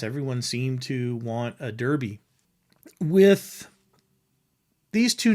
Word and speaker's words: Derby: They pronounce it as we would pronounce it, Derby, because it's spelled D-E-R-B-Y. And in England, that's pronounced Derby. Here, it's Derby.